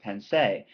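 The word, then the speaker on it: Pensées: The writings that he composed that this particular piece is taking from formed a collection that in French is pronounced pensée, which simply means in English thoughts.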